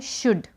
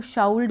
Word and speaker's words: should: सबसे पहला है शुड। सबसे पहला है शुड, SHOULD। कई लोग उसको शाउल्ड बोलते हैं, लेकिन शुड इसका जो प्रोनाउंसिएशन है, जो उच्चारण है, वो है शुड मीन्स चाहिए।